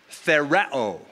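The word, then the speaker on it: θεωρέω: The second word is found in verse 6, and it's the word thereo. Sorry, that's how it's pronounced. Thereo. We get the term theater from it.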